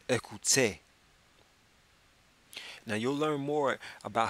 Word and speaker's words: écoutez: If you were reading it as if it were English, you would say écoutez. But because you know French, you pronounce it écoutez.